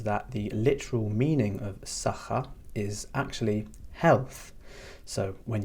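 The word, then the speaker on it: saħħa: Now, the next farewell expression that we have is sacha. That's sacha, and that means goodbye.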